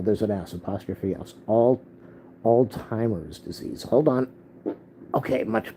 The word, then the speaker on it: Alzheimer: it up today I looked up how to pronounce that word Al Al what Alzheimer that's what it is I used I call I usually say Al Al Al Alzheimer's it's Alzheimer so it'ser at the end Alzheimer